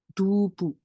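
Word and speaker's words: 두부: next Em kalau misalnya ini D terus ini u terus ini B terus ini u bacanya dubu Tofu artinya dubu terus kalau misalnya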